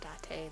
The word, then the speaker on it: Date: you serious your special agent kaname date ah date that's how you say it i'm still gonna